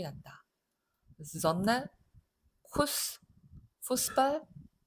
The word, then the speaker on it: Kuss: 얘는 S가 두 개 나란히 나오면 S하고 똑같은 발음이에요.